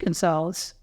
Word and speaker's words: Gunsalus: I spelled it Gunsalus. I pronounced it Gonzalez.